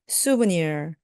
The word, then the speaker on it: souvenir: 기념품, souvenir, souvenir. 앞을 강하게 해주세요. souvenir.